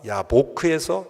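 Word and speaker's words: יבק: 그러니까 야곱이 야복강에서 싸웠다라는 것을 히브리어 하면 야코브가 야보크에서 야베크했다.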